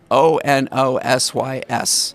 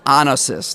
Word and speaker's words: Onosys: O N O S Y S Okay. Onosys. Not Not a long O.